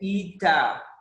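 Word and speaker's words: eta: इसको पढ़ते हैं ईटा, इसको पढ़ेंगे ईटा।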